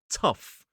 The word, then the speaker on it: tough: at the start, but this one is pronounced tough. Tough. So, we start off with that aspirated sound. I'll do a whole lesson about aspiration in the future, but this is t uff. Tough.